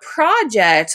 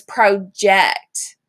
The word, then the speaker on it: project: questions now please note project is spelled the same way as project but notice the different inflection in my voice it's not project like a group project it's project okay so you're gonna push